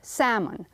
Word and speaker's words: salmon: but you skipped Simon no l salmon Laura can you please